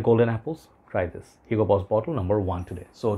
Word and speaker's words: Hugo Boss: mL of Hugo Boss I heard Stephen from adolescent say hookah boss I think Paris does the right way to say but I love to brag about here you go man it's Hugo Boss you know you try